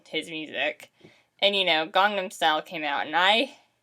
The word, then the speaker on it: Gangnam: when people mispronounce it it is not gangnam it is gangnam yeah um and my